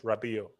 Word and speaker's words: Rabiot: something you know yes it is silence rabio you have to lend the name because we'll be playing for you the t is silent rabbit okay rabbit okay